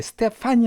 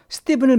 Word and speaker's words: Stephen: 이건 스티븐이라고 발음해 스테판이 아니라 스티븐입니다. 자, 우리 meet Stephen 명령문이죠. 스티븐을 만나세요 그 뜻이에요.